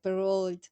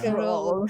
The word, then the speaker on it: Perrault: Y justo hablando de esto, de tanto de los Grimm, de Andersen, de Perrault, no sé si así se pronuncia. Sí, ¿por qué la mencionas con acento inglés? Perrault.